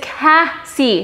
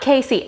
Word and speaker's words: Cassey: Phonetically, 2 S's means it's Cassie, not Casey.